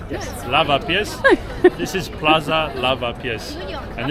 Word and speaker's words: Lavapiés: And right now we are in a place, please correct me if I pronounce it wrong, Lavapiés? Yes. Lavapiés.